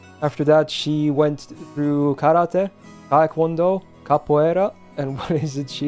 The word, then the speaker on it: karate: All I know is that karate is not pronounced karate, it's karate. Literally means empty hand in Japanese.